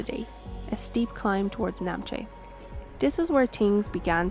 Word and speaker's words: Namche: We reached Namche [pronounced incorrectly] Actually wait stop I have to interrupt you there Kat. It's Namche!